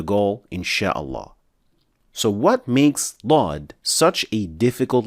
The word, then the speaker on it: ض: First, the makhraj or the articulation point of Daad is so unique that it is exclusively used for this letter and not any other. This is the makhraj of Daad. So the side edges of the tongue are only used in the case of Daad and not any other letter.